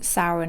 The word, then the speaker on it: Samhain: And his name, Sam, comes from Samhain itself, because even though it's pronounced Samhain, it's spelled Samhain, shortened to Sam.